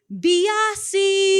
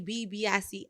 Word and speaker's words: Biase: always, they want to add that extra B. They be like, Biase. I'm because Biase.